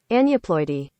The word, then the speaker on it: aneuploidy: I always fuck up the pronunciation of this word. Aneuploidy.